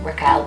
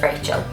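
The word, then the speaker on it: Rachael: But it's spelled R-A-C-H-A-E-L, so like Raquel, but it's Raquel, but it's Rachel.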